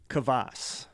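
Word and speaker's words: kvass: the region it's from I believe it's pronounced kavas okay it is a Russian soft drink o so let me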